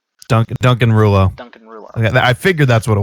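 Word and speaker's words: Rouleau: ahead i found out his last name is pronounced ruler ah duncan duncan ruler i figured that's what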